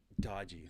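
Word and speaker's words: DOGE: I think they said how do you say it again Ben doggy dodgy dodgy um I'm not g I'm gonna say doggy by the way uh it's gonna happen uh dodgy like dodgeball um they uh so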